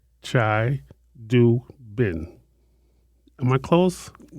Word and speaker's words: Chidubem: Chai Doobin. B E M. You have to pronounce that B. Oh. Oh, Chai Doobin.